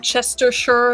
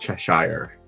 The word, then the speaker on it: Cheshire: Is that Chestershire? Is that how you spell it? No, it's just Cheshire, like the Cheshire Cheshire.